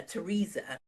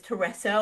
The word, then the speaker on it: Teresa: So, I actually called Teresa Teresa. And then she asked me really politely, oh, actually, my name is Teresa, or please call me TJ.